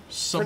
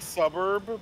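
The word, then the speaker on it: Sburb: Suburb. Pronounced like suburb, but like spoken quickly.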